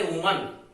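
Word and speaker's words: women: ऐसे वुमन, इसमें भी ए की जगह ई कर दिया, उसका उच्चारण भी विमेन बन जाता है, वुमन का विमेन, और ये महिला जो है बहुत सारी हो जाएगी इस तरह से।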